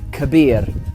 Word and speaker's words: كبير: So the word big in Arabic is this, kabir, kabir. And it's spelt kaf, ba, ya, ra, kabir, kabir.